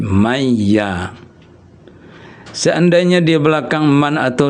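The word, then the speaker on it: مَن يَ: Jadi man dengan ya ini digabung bukan man ya tapi mayya.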